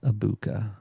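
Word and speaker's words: Egbuka: G is silent. Amecha Ibuka.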